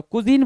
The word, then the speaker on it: cuisine: आ जाओ, कुजीन बोलते हैं, उसको क्या बोलते हैं भाई, कुजिन बोलते हैं।